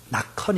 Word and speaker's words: 낙헌: 이름이 낙헌 있니다 낙헌 어떤 사람은 낙원이라고 부르는 분도 있고 낙현이라고 부르는 사람도 있고 이름이 잘 없는 이름이라서 발음이 좀 어려운가 봐요 예 저도 어떨 때 막 불다 보면 나현아 막이 불러요 낙헌 있니다 낙헌 예이 이름을 낙이 태어나고